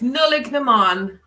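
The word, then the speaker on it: Nollaig na mBan: How do we pronounce that? It's Nullig Naman.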